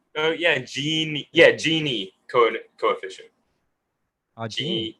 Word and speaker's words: Gini: Yeah, I actually pronounced this wrong. It's a Guinea, not Guinea. It's Are you sure? Gini. Yeah. Well, I guess so. I mean, it's the same. no, it's like, Ginny.